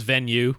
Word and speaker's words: Venu: then venu I mean they say to just pronounce it as venue but of course they